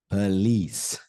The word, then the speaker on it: police: also do that look at that p p police police the sound of the word here is